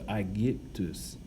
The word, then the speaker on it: Aegyptus: Now, Aegyptus, the Y is the Greek letter Llpsi. Now, Llpsi is, if you want to say it, it's kind of a cross between an I, a short I in English, and a short U in English. So a cross between I and U.